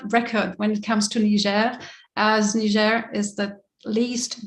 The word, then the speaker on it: Niger: a french speaking background we will stick to the french pronunciation of country names so it's niger we are dedicating our